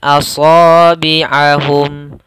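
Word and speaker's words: أَصَابِعَهُمْ: Maka bacaan mimnya harus jelas dan tidak boleh ditahan. Asabi'ahum fi. Tidak boleh. Asabi'ahum fi. Enggak, tidak boleh seperti itu.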